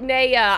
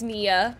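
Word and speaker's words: Nea: I do pronounce it Naya. I do. It's because of where I'm from. Yes, her name is Nia.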